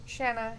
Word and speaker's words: Shanna: Oh, they said it right there. Did you see it? Shanna, yeah.